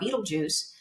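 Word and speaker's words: Betelgeuse: looking at the star Beetlejuice which is a very very old star I know it sounds like Michael Keaton Beetlejuice but it's spelled totally differently I know me too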